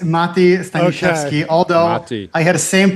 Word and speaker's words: Mati: It's Mati.